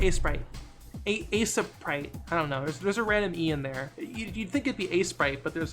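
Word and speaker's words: Aseprite: A-Sprite. Right, that's how I pronounce it.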